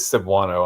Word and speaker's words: Cebuano: I wonder if I'm pronouncing the name of that correctly. It's not Cebuano, is it? Let's see what Wikipedia has to say about that. It is Cebuano.